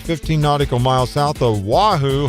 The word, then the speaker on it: Oahu: Officials say the Russian intelligence ship was about 15 nautical miles south of Oahu, Hawaii. Kind of rhymes with Yahoo.